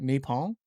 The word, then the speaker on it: Nippon: Don't they call it like Nippon? Well, I think that's Japanese. That's how you say it.